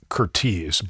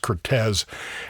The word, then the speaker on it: Curtiz: everybody who talks about the director Michael Cortez pronounces it as Curte, but his official biographer Alan Roodie uh says that everyone mispronounces his name. uh that it is pronounced Cortez and the evidence is is pretty clear on